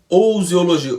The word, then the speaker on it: ousiologia: né ou um biologia esse ou em pronuncia igual no francês por né o ousiologia usiologia e por último a